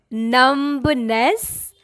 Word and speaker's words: numbness: what about this one numbness no again mid B is silent here so call it numbness